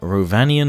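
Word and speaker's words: Rhovanion: Rovanian hunters, Rovanian spearmen, and Rovanian rider. Roll your R's.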